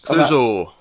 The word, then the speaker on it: Clouzot: Clouzot, however you pronounce it. It's French. Clouzot.